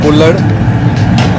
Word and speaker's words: kulhad: One is kullar chai, and one is tandoori chai, and one is kesar tandoori chai. This is what is known as the kullad. It's spelled Kulhad, and it's made of,